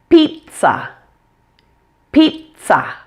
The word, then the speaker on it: pizza: really isn't too hard the first syllable sounds like the name Pete PE te and the second syllable is pronounced like su in son so it sounds like this pizza pizza there are no Z sounds at all in that word number six close this